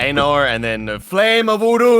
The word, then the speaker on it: Anor: Anor? Is that how you say it, Andy? Yeah, Anor, and then the flame of Udun.